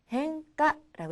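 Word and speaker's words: 変化: 변할 변자는요, 음으로 읽을 때는 행이라고 읽어요. 그래서 변화라는 단어는 행가라고 읽습니다.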